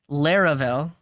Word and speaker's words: Laravel: you're here for okay how do we pronounce Laurel I've heard lurel for everyone except its creator Taylor otwell whom usually pronounces it laravel he sometimes slips though